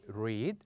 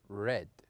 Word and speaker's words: read: For example, in the present we would say read, but in the past we would say read, read.